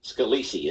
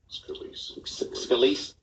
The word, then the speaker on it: Scalise: Now, you pronounce his name, Representative Scalise, isn't it? Scalise.